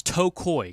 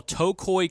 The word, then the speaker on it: Tocoi: it's you kind of think about your big to a toe and then think of a koi fish cuz a lot of people say a koi and but that's the I guess the official pronunciation well that's going to